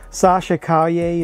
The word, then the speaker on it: Sasha Calle: other character that seemed interesting to me was sasha caglia is how you pronounce her name has been cast as super